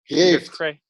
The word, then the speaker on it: Peter Kreeft: How do you say lobster, Job? Kreeft. Peter Kreeft.